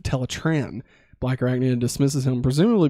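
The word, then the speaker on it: Teletraan: disgust of silver balls this episode addresses the teletron versus teletran pronunciation debate when biker acne refers to it as teletron one rat trap annoyingly corrects her with teletran black arachnid dismisses him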